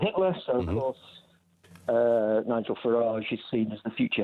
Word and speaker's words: Farage: Farage, I think, is the pronunciation. Yeah, Farage.